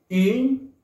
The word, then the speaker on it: une: Una en francés se pronuncia une. Se dice con la boca en forma de besito, en forma de silbido, y vas a pronunciar la vocal I. U. Une. Une. Es un sonido nasal.